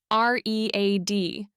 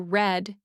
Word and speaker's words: read: Reed has a tricky pronunciation. The spelling stays re a d, but pronunciation changes from read in present to red in past.